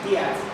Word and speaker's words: Death: His surname was spelled Death, but pronounced Diath.